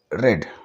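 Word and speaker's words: read: Few books bye नाउ, ही हैज़ रेड, रेड इसको pronounce करेंगे। ठीक है, होता तो सेम ही वर्ड है फर्स्ट फॉर्म, सेकंड फॉर्म और थर्ड फॉर्म में रीड का, लेकिन प्रोनाउंसिएशन चेंज हो जाता है।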